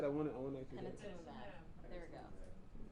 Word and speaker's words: panitumumab: Panitumumab. There we go. Panitumumab. No, but you forgot the other M though. You forgot the first M.